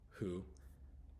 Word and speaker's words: who: learn the differences so the first one example is who it's a little bit of special case where you do pronounce the h sound only so who sounds more like just ho o you don't have to